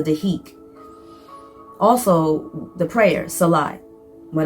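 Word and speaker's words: dhikr: call a silence practice the spelled d h i k with a silent r. So deik.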